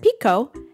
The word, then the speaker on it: Pekoe: not a bad transliteration so it's like pe ho but he heard pico and that's the name